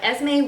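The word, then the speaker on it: Esmé: Burnie has essays by Esme way June Wang I actually looked up the pronunciation of her name and I know that as me is how her first name is pronounced but the other ones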